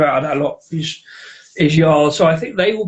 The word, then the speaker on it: Jarl: It's like a pale ale, but it's spelled Jarl. But apparently it's pronounced Jarl. So they said they were going to actually change it to Yarl.